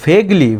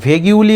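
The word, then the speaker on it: vaguely: অস্পষ্টভাবে কিছু উত্তর দিল ভেগলি ভেগিউলি এরকম উচ্চারণ করবে না এটা ভেগলি মানে অস্পষ্টভাবে সে কিছু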